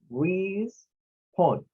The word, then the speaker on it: respawn: Primero, la RE, que es de re, es el sonido I para la vocal E, ¿verdad? Del inglés. Luego, de spawn, de la S a la N, tenemos la siguiente sílaba que es spawn. Respawn, respawn. Luego, encontramos acá con la